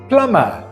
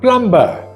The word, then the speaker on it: plumber: the stuff we breathe the p in this word is silent so it's plumber not plumber this word is not